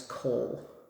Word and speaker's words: Kohl: So the darkest color, this is Kohl. K-O-H-L. Did I spell it?